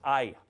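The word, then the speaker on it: αι: two vowels put together here's your Alpha and your Yoda pronounced I I you're going to need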